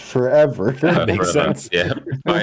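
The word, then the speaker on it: ForeVR: I did that as well until I think I watched Myles stream Forever Bowling, and I was like, oh, it's pronounced forever.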